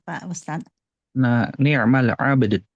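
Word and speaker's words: نعم العبد: Nah, ni'mal abd. Jadi si ba-nya dulu dipantulkan, baru dalnya, dua-duanya.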